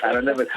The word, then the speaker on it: anonymity: Anonymity.